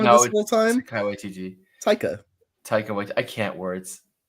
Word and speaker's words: Taika Waititi: I truly think if you like Taika Waititi as an artist, or Taika Waititi, I just like botched his first name.